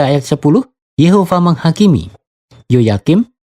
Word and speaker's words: Yehova: Sudah jelas bahwa orang-orang Israel menggunakan nama Yehova sejak dini, dan kita dapat mengetahui bahwa pengucapannya juga adalah Yehova, bukan Yahweh.